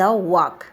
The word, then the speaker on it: walk: प्रथम प्रश्न हैला read the following words and choose the letter not pronounce in द वाक। WALK वाक वाक रे L letter रो sound T silent अछि, तेणु एठारे ऑप्शन सी हबो।